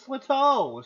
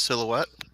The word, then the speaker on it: silhouette: woken up from my dreams with your father's Slito standing over my bed. Slito? I never really got quite how to pronounce that. What? Talk about silhouette?